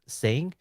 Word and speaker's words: Sing: Am I pronouncing Sing? Yeah, it's a silent G.